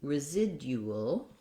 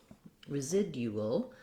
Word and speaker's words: residual: dual in british english so residue residual residual um what's interesting here is that we have second syllable stress so you want your clear vowel here same you will ending residual so if you can do dual residual you can do the same thing in british english build up that way